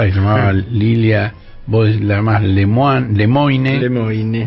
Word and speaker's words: Lemoine: llamaba Lilia más lem lemoine lemine yo la llamo leman realmente no hay por qué negarle la pronunciación original de su apellido no bueno Lil lem